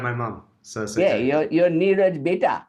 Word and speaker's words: Niraj: nirish which is that sorry i call you new rich everybody says niraj right i have to figure that one out you pronounce my name like my mom you pronounce my name